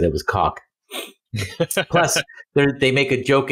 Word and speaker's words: Koch: Would you go with cock or would you go with coke? It's cock.